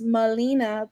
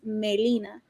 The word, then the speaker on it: Melina: My name is in English. It's like pronounced Melina, but in Spanish, if you read it, it's Melina. So it's just how to really pronounce it.